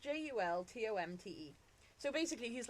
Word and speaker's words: Jultomte: It's Yultomte, or it's pronounced Jultomte.